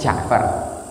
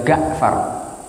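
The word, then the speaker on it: جعفر: Nama saya itu Ja'far, mereka manggilnya ya Ga'far.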